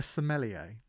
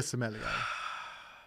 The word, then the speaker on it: sommelier: l i e r it sounds like like an italian football player jean lucas um i'll